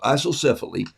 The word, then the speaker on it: isocephaly: So isocephaly, it's pronounced like this, Eyesohsef, isocephaly.